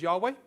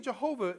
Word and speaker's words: Yahweh: have learned that the the pronunciation of J did not exist until around 600 years ago though the name of Yahweh or Yahweh is used 6800 times plus times in the Bible.